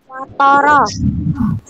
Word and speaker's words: watoro: dalam Watoro. terus iki watoro ini bacanya watoro jadi yang duanya ini pakai suara o miring yang toronya ini pakai suara o jejeg Apa?